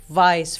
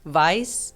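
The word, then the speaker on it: weiß: part you have to teach them how to pronounce yeah the EI goes like Vice for example like which is white vice vice in german yes which is white um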